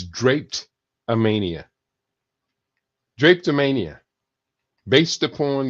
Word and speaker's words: drapetomania: one drape tomania and the pronunciation is not it looks like dra Mania but it's not it's draped am Mania draped am Mania based